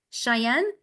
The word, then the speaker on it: Cheyenne: It's a very generic question, but So this is Cheyenne. yeah, Did I pronounce it right? yes, correct.